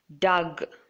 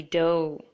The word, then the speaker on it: dough: first word it's not Doug or or any other way that you might be pronouncing this word it should be dough and gh both are silent here in this word foreign